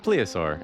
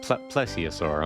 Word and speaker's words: plesiosaur: That's one happy looking pleaosaur, isn't it, though? He's just like, "Yeah, or plesiosaur. I'm sorry, I mispronounced that."